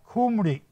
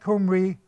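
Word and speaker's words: Khumri: said bet kumri k-h-u-m-r-i kumri and that's recorded in these tablets by uh the Assyrian King technopoliser now betkum Reeb changes into gemery k-h-u-m-a-r-i and the KH changes still pronounced the same way g-h-i-m-i-r-r-i Jamari now that's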